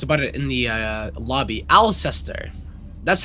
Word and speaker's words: Alceister: Alceister. That's how you say his name. Alceister.